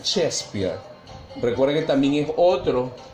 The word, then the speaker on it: Shakespeare: Se escribe Shakespeare, pero se pronuncia Shakespeare.